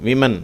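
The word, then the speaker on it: women: இதை இப்படி தான் உச்சரிக்கணும். WO என்று வந்தாலும் அது WI மாதிரி தான் உச்சரிக்கப்படுகிறது. விமன் என்று உச்சரிக்கப்படுகிறது.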